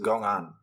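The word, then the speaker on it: 公案: The word is pronounced gong'an in Chinese, and it contains two characters.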